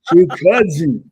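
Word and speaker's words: Chukhadzhian: It's Karen Chukadzian. Well, I had forgotten how to spell it, so I put Chewbacca.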